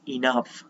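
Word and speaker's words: enough: A word to wise is इनफ। ये जो GH है उसका उच्चारण फ जैसा होता है।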